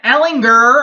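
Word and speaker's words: Ehlinger: Sam Ellinger, I hit that hard G there, Coach Herman.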